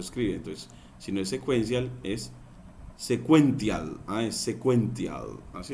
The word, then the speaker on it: sequential: Entonces eso en inglés ya en español significa secuencial, y se pronuncia sequential, sequential.